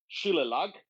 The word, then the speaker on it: Shillelagh: The family prefix of your cattle is Shilelag. Where did that name come from? Um, Shalala is the name of it, Shilela. like the Oh, song Layla.